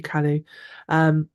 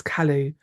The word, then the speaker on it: Calais: Lovely to meet you, Callie. I keep wanting to say Callie because I live on the edge of Wales, but I think it's Calais.